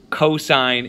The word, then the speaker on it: cosine: Don't say sin though. Don't say cos and don't say tan. Please say tangent, cosine, and sine. That is the way to properly pronounce these.